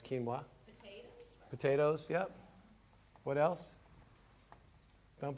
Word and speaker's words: quinoa: rice definitely quinoa definitely quinoa spelt with a Q some people see that word and they don't know is but that's quinoa potatoes yep what else